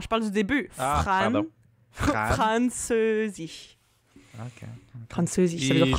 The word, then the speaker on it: Französisch: Mais si c'est à l'intérieur d'un mot, c'est un R comme en français. Ouais. Mettons, Französisch, qui veut dire français.